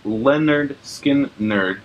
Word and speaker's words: Lynyrd Skynyrd: 403 is pronounced Lynyrd Skynyrd by Lynyrd Skynyrd.